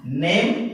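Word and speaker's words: name: है और इसे हम नेम पढ़ते हैं। नेम वर्ड में ई साइलेंट होता है, यदि वावेल ई किसी भी वर्ड में लास्ट में आता है तो ई साइलेंट हो जाता है।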